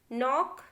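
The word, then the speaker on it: knock: Silent K देखिए कहाँ K silent होता है, the letter K is always silent when it प्रेसीड्स the letter N इन a word. देखिए जब भी K जो है N के पहले आता है उस जगह पे हमें K को बोलना ही नहीं है। एग्जाम्पल देखिए नो, नॉक, knife, night, knowledge, हमने सिर्फ N को प्रोनाउंस किया है, K को कहीं भी नहीं किया है।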